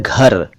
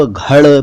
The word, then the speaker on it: घर: इन शब्दों को आप घड़, पड़, प्यार, प्रेम, दूड़, दूड़ी तो नहीं पढ़ेंगे ना। इनका सही उच्चारण तो घर, पर, प्यार, प्रेम, दूर, दूरी है।